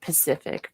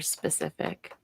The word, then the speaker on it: specific: When people say the word Pacific for specific. Pacific. But that's not a word. That's a mispronunciation.